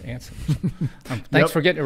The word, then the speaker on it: Anson: thank you glad to be here did i pronounce that correct anson yes hansen without the age you know i